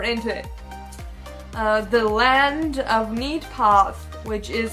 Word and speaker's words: Neidpath: know get deeper into it the land of neat paths which is how it's pronounced actually belongs to three generations of families